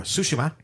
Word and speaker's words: Tsushima: been playing ghost of tsushima and uh or sushima as it's pronounced in the game uh and that game